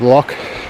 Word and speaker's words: lough: to do with pronunciation we have lock which is l-o-u-g-h so it's l-o-c-h versus l-o-u-g-h broke me in the